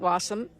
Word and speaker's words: Wassam: I asked Sergeant Wassam, yes, her name does rhyme with awesome, what her big takeaway is from this pandemic experience.